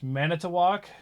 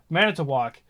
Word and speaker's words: Manitowoc: Brookfield not that Stevens Point oh my gosh Manitowoc yeah you actually got that one again this is Native American stuff so like I I can under because uh Manitowoc uh the word for great spirit is uh